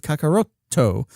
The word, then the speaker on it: Kakarot: from the end of Kakaroto. That double T, that consonant sound is inferring and indicating that hard ending sound. That's why we would spell it as Kakarot instead of Kakaroto, or for a more